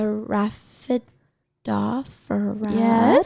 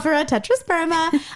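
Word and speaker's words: Rhaphidophora tetrasperma: And to top it all off, I bought a Raphidophora tetrasperma. I said it right. Good job. Raphidophora tetrasperma.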